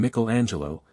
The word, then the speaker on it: Michelangelo: saw some drawings by Michelangelo these Italians call him Mel Angelo and Leonardo da Vinci